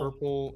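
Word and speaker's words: hirple: very different places so purple rhymes with a word called Purple h-i-r-p-l-e which means to walk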